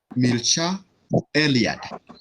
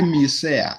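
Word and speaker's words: Mircea Eliade: The other scholar is Milcha Eliad, pronounced as Milcha Eliad. Umepata hiyo? Yes. Yeah, don't say Milsea.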